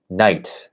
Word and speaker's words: knight: pronounce some letters, like in the word knight, as in a knight in shining armor. At least two of the letters you don't pronounce.